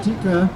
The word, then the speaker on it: Tika: Yes, I'm tikka, but tikka masala is like, it is spelled double T-T-I-K-K, and I spelled it single K, and I'm not as hot as well. So that's how I introduce myself.